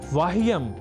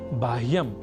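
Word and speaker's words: बाह्यम्: दिला रहे हैं कि कुछ ऐसे भी शब्द हैं जहां व और ब इन दोनों ही अक्षरों के बीच अभेद है। इस स्वीकृति के साथ कई शब्द हमें संस्कृत साहित्य में प्राप्त होते हैं। जैसे आपको याद ही होगा वृहस्पतिह या बृहस्पतिह। वृहत या बहत वहीह या बह और वाह्यम या बाह्यम जैसे उदाहरणों में दोनों ही प्रयोगों की शुद्धता की स्वीकृति हमें संस्कृत के शास्त्रों द्वारा प्राप्त होती है।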